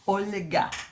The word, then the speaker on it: Olga: you say my name you are creating a soft L Olga I like that I